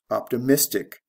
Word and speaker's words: optimistic: the next one is optimist optimistic again we go from the first syllable to the third syllable this is a stress